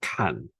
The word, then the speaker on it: kan: Box number 1 in pronunciation is called kan. K-A-N, kan.